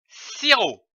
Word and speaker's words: sirop: le mot si haut on ne prononce pas le p comme ici du sirop nous avons vu la